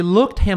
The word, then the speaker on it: looked: Este passado tem som de t.